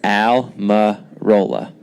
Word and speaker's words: Almirola: eric just like with an e but it's spelled with an a and it's alma rolla so it's pretty simple but i guess when